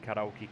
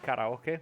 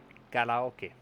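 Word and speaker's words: カラオケ: so how's it pronounced karaoke okay it's difficult it's like it's like it's not an R but it's not an L it's not a d it's like all them together basically very very tough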